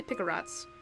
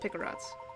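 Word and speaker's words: picarat: I say pick-a-rats. Quite an impressive piece of machinery. Do. Hint coin. That's what I'm fucking talking about. It's actually pronounced Picarots.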